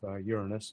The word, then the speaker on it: Uranus: Uranus and Neptune and that is the correc pronunciation of Uranus of course as my one and only astronomy professor said this is not an anatomy class uh Uranus and Neptune